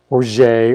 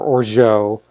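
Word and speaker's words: orgeat: t it's o-r-g-e-a-t um i pronounce the t uh i i know a number of people that do not and it's or jay or or joe i don't know uh but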